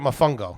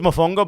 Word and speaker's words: mofongo: saying it right or is it my fungo it is mofongo but i'm gonna let it go what did i say my phone goes you say mofongo hello we would like